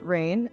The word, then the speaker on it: Raiyn: and Stoners Community well my name is rain pronounced rain and I'm actively a